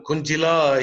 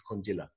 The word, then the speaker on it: Kunjila: ask them those questions, Kunjila. Okay? Am I pronouncing your name properly? You have to switch on your mic. Yeah, I'm muted. Now you can hear me? Yeah. The J is silent.